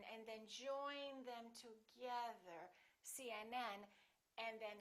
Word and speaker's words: CNN: phd the rule is we stress the last letter of an abbreviation for example cnn ucla